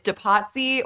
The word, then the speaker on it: Depatie: It's Depatie or Depatie, but Depatie is cool too.